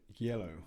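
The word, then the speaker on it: Geilo: And I'm going to talk about the Fat Viking event over in Norway in Yellow, I think is the way it's pronounced.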